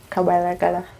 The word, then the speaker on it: Kabalagala: I really hope I learn how to pronounce the word nicely. Kabalagala, yeah.